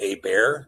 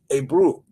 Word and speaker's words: Ebru: It's not Aber or Eber or Eber, it's Ebru.